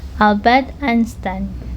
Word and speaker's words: Einstein: Kemudian nine nah kalau dalam bahasa Jerman ei i itu bacanya I. Kan tahu Albert Instin. Jadi ini bacanya I Albert Einstein oke kemudian ada vilaih.